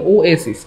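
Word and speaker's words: oasis: তারপরে ওটার উচ্চারণটা এই যে ও এসিস, ও এসিস, এই দেখেন ও এসিস, এই হচ্ছে ব্যাপার।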